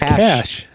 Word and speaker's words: cache: one is my favorite i used to live in cache but it's cachet no it's cash it's not cache i you don't need